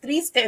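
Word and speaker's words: triste: think about thank you thank you for it's pronounced Trista in Spanish which means sad look at action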